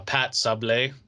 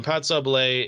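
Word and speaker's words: pâte sablée: the other one we had um it's actually pronounced uh pat sable um notice the ego accent um pat sublay it's a it's a um short crust pastry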